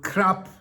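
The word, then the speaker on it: ครับ: Now, ca pronounced in a long vowel with a falling tone at the end of a sentence is how a Thai woman expresses respect. A man puts the word crap pronounced with a short vowel in a middle tone in that position for that purpose.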